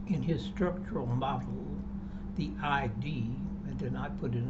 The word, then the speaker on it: id: In his structural model, the ID rhymes with lid, the instinctual force seeking immediate satisfaction presses upward with appetite and urge.